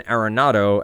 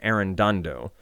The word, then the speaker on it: Arenado: didn't mean to, but I would pronounce Nolan Arenado as Nolan Arendando. And I just added these extra letters to his name for a long time.